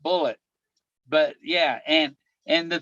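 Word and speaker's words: Bullitt: l TT but it it was still bull pronounced bullet but yeah and and the thing about the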